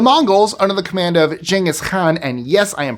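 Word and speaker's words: Genghis Khan: So, he would not have called himself Gangghaskhan. His name would have been Chingis Khan. That's how it's pronounced in Mongolian.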